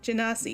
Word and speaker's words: Genasi: up, at this oh, I forgot how to pronounce it. My brain is saying like, oh, he's a goalie. I'm like, Genasi. no, Genasi, yeah.